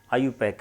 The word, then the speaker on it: IUPAC: इसको IUPAC भी बोल देते हैं, लेकिन एक्चुअली इसका प्रोनाउंसिएशन आयुपैक है।